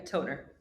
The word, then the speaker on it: Tonner: Is it Emma Toner or Toner? How should we be pronouncing this? Yeah, Toner. Toner.